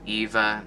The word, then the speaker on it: Ewa: oakland moving on to the eva concourse or eva there are two different ways to pronounce it ironically that is where